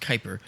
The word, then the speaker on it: Kuiper: of how it was captured out of the Kuiper belt the Kuiper belt spelled kayuu iper pronounced Kuiper the Kuiper belt is out beyond the orbit